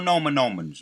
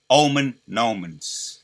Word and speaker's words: Omen Nomen: More Nomen Nomens. More Nomen Nomens fresh off the press. Omen Nomens. That's how you say it. It's Omen Nomen.